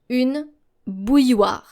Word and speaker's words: bouilloire: So as I've mentioned, our L's here are silent. Une bouilloire. Now let's do this step by step. Bouille. So think of pronouncing something like B-O-U-Y. Bouille. And then war. W-A-R. Bouilloire.